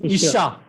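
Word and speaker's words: אִשָּׁה: Then it is Isha. Isha. Isha. Isha. Isha. There is doubling dagesh in shin. Therefore, the pronunciation consonant is doubled.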